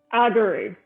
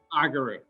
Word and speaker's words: Argyrou: Argyrou. Argyrou. Okay, Michael Argyrou from Hickory.